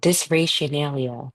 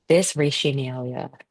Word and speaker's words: dysrationalia: This is what I do when I don't know how to pronounce a word, I just do this. Oh, dysrationalia. Okay, dysrationalia.